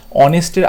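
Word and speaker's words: honest: এখানে এইচ আছে কনসোনেন্ট, কনসোনেন্টের আগে আমরা জানি এখানে এ বসে, কিন্তু এখানে এইচের উচ্চারণটা অয়ের মতো হচ্ছে না, অনেস্ট।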